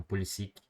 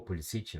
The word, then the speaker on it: Pulisic: Imigrantes croatas, mas ele já disse em entrevista que uh, prefere ser chamado de Pulisic, né? Sem a pronúncia croata, né? Que é como os outros americanos também o chamam, assim, enfim.